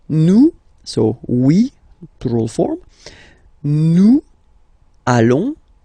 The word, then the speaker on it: nous allons: Then nous, so we, plural form, nous allons, okay, and if you, so final S not pronounced, and then if you are purist, and I'm sure you are, you want to make this beautiful and little liaison, so this little link between the words, so it does mean